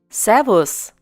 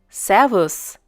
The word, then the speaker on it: Servus: people in this case s takes the pronunciation z servos once again servus this greeting originates from